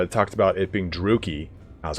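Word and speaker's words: Druchii: I assume, like, for instance, Druki, I thought it was Druchi for fucking years. I think it wasn't until I saw the Warhammer 2 thing where it talked about it being Druki.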